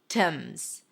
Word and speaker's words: symptoms: Sim, a silent P, and then symptoms simp. Technically, you could say symptoms, symptoms, but English is a lazy language. So when there a chunk of consonants a consonant cluster where there is a sequence of consonants and then in the middle there is a stop sound like a p in this case you can drop it simp if it's easier for